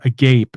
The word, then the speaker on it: agape: you know sort of a gape as Mr Brian O'Shea would say how he pronounces Agape a gape mouth a gape a bit